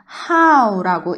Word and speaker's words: how: 자, 그 다음에 H는 히읗 소리, O는 아, W는 우 붙여주면 how라고 읽는데 이거 엄청 중요한 말이에요.